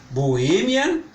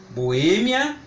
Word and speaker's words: Boêmia: ver alguns exemplos só de parar de proparoxítona Boémia e ínterim Boêmia interi as palavras proparoxítonas são mais simples de identificar quanto a pronúncia porque tô como você já sabe em